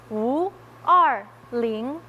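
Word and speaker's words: 五二零: For us in the Chinese community, when you say May 20th, the numbers 520, they are pronounced Wu Er Ling.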